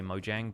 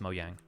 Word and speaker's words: Mojang: about it they say Mojang but mo yang is actually a Swedish word like it just means kind of gadget or thingy and in Swedish it's pronounced mo yang if you go to